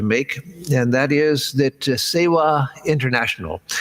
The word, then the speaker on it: Sewa: is that Sewa International, they spell it S-E-W-A, not Seva with a V, but Sewa is the same word. It's just in some parts of India, it's pronounced more V-like, in some parts of India W, and so this organization has taken the W spelling.